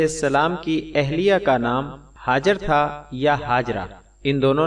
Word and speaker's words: ہاجر: کی حقیقی والدہ کا صحیح نام ہاجر ہے صلوات اللہ علیہا، جس کا تلفظ اہل عرب آجر سے بھی کرتے ہیں، کیونکہ لغت عرب میں ہا کو حمزہ سے بدل کر بھی پڑھا جاتا ہے۔ ہاجر اصل میں عبرانی